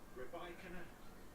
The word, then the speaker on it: Rybakina: Rybakina. You should have seen us in the production office this morning. We've been told by Yelena Rybakina that that's how she'd like her name pronounced.